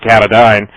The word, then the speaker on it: Katadyn: company PUR now, was bought out by Katadyn, or Katadyn, I pronounce it Katadyn, and they have a desalinator, what's called a Survivor 35.